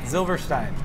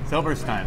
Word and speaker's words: Zylberschtein: Zylbersteins? Is that right? Zylbersteins. So Josh runs the place. You know how to pronounce it. Say it for us. Zylberschtein. Zylberschtein.